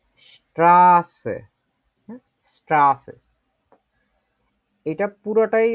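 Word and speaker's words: Straße: এইটা আছে যেটা এইটা আমরা ডবল এস ডবল এস এটা যখন যেভাবে করে উচ্চারণ করি এটাও হচ্ছে ঐরকম করে ঠিক আছে যেমন ধরেন হচ্ছে আমরা একটা শব্দ শিখি এটা হচ্ছে রাস্তা রাস্তা এটা বাংলা ডেসটা যদি দেখি স্ট্রাসে হ্যাঁ স্ট্রা আছে এটা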